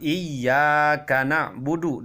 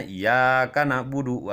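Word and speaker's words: إِيَّاكَ نَعْبُدُ: berdosa karena merubah Alquran contoh lafadz iyakanabudu dalam surat al-fatihah Iya harusnya pakai tasdin Iya Kana budu wa iyyaka nasta'in Dia membacanya iyyaka na'budu wa iyyaka nastain tidak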